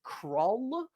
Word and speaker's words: Cru: wrong this whole time it's not Cru his name is craw but it's spelled like Cru so my bad craw um